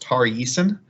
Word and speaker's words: Tari Eason: I believe his name is pronounced Tari Eason.